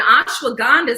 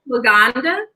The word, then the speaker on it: ashwagandha: But and ashwagandha. So this is like I said, you're not going to be. What's that called? Ashwagandha.